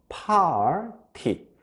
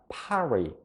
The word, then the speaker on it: party: 되고요 끝에 있는 py는 그대로 t t 이렇게 발음이 돼서 팔 티 팔 티 이렇게 발음해 주시면 되죠 그런데 외국인들 발음할 때 살짝 보시면요 그냥 파리 파리 파리처럼 발음이 돼요 파리 이게 왜 이렇게